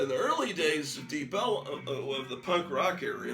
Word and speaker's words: Deep Ellum: far down Elm Street, they called it Deep Ellum. They pronounced Elm as a two-syllable word, Ellum.